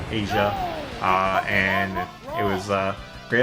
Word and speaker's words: Aja: It's spelled that way, Asia.